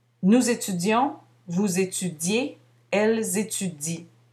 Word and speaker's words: étudient: Nous étudions, vous étudiez, elles étudient. On ne prononce pas le ENT.